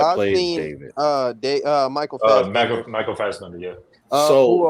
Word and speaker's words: Fassbender: Michael Fassbender is Fast.